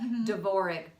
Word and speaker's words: Dvorak: us RDA and a like but it's pronounced de bourree DV o are a que yes de Bourgh spelled da na DV o are a